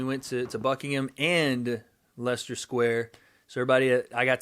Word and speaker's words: Leicester: uh we've been doing some shooting out in leicester is how it's pronounced i've learned leicester square because leicester's like nestle's up north leicester square leicester square i've been saying lycaster all day people have been trying to correct